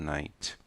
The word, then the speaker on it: night: Pronuncia a letra T. Não existe essa de não pronunciar a letra T. Temos que pronunciar GHT. Observa, GHT. GH não são pronunciados. Então, fazemos a fonética da letra T.